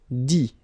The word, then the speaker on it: dit: Dit. Okay, phonetically, same thing here. You don't pronounce the final T.